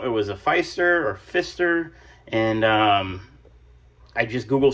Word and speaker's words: Pfister: of the screen it's uh I believe it's pronounced Fister it's p-f-i-s-t-e-r and it actually took me a